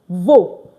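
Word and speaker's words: veux: So you want is what? Two VO. Don't forget we don't pronounce the X at the end.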